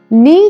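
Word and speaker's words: knee: घुटने, घुटने को इंग्लिश में नी कहा जाता है। इसमें के साइलेंट होता है।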